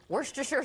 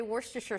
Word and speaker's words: Worcestershire: the stuff tell me if you could to werster sure sauce tell me how you say it cuz everyone says it differently I say Worcestershire sauce and I love Lea & Perrins and